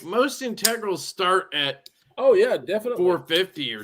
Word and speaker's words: integral: This knife right here, the XLC, is a titanium integral. Kevin, I said it right. Integral.